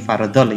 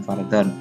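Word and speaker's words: فرضًا: Ini fardhol ya, bukan fardhon. Ini kalau translate dari bahasa Arab begini memang tulisannya, tapi bacanya fardhol lillahi ta'ala.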